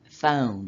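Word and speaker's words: φωνή: numerous and its voices the word in Greek is literally phone is how you pronounce it saying to all the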